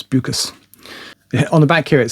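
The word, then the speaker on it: Beukes: Uh I'm reliably informed that's that's how it's pronounced. She's South African originally, so it's buus.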